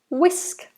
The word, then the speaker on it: whisk: I just say whisk whisk the H is silent W whisk again if